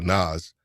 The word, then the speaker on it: NAS: How are you pronouncing that? It's a NAS.